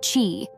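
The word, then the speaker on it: qi: this technique balances the flow of energy pronounced Chi stimulating the body's natural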